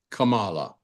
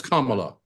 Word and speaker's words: Kamala: Her name is not Kamala, it's Kamala.